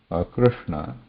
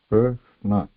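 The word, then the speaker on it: कृष्ण: Krishna, you should be mindful there. So what is here? We are not pronouncing Ra, which is a Vyanjanam, means there is a contact. We are pronouncing Ru, which has no contact. It is a Swara, but the place position is here with the rolled tip of the tongue. R.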